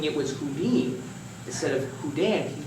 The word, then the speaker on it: Houdin: into Harry does sounded like Harry he chose Houdini because he was very much influenced by a French magician by the name of Jean Rober hudan who we just spoke about a moment ago